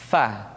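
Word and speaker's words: ف: Diucapkan dengan menyentuhkan ujung dua gigi seri kita bagian atas dengan bibir bawah bagian dalam. Fa. Seperti kita mengucapkan huruf F di dalam huruf Latin.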